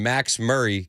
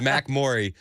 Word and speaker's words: Mac Murray: Wendy texted in, and she said, it cracks me up when Max Murray gets tickled and giggles. Close, Wendy. It was very close. It's Mac Murray.